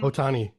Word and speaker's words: Ohtani: oh honey how do you say his name ohtani ohtani correct they were actually selling ohtani merchandise